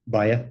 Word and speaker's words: Mbaye: Yes, it's Mbaya. The M is kind of silent, but you're fine. I don't get offense. It's how we name. Okay, so how do you say it? Mbaya. Baya?